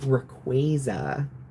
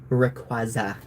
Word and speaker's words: Rayquaza: I'm not a fan of the official pronunciation. So for this stream, we will continue calling it Rayquaza. Rayquaza.